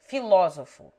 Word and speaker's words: filósofo: The following take the accent on the antepenult. 1. Masculine nouns from the Greek, such as astrônomo, geólogo, filósofo.